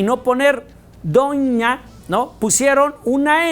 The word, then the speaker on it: doña: De tal manera que gráficamente lo que estamos diciendo es donna, o nosotros al ponerle la rayita ya lo pronunciamos como ñ y decimos doña.